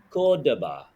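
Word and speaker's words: Córdoba: Cordova City yeah in Cordova cap that's right Danny you gave it away too easy your Argentinian accent stop it pronounce it like a foreigner Cordoba Cordoba Cordoba I'm at Cordoba but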